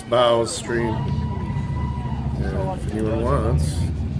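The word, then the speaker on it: Bao: Clash with Bow.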